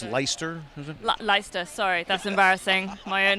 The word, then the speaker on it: Leicester: I think that's pronounced Leicester, is it? Leicester, sorry, that's embarrassing.